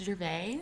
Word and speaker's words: Gervais: gervais hi pronounced gervais gervais silent s i'm french too like i speak french